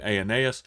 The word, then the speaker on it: Aeneas: I think Aeneas is how you pronounce that, is a pronunciation of that, and raises Dorcas.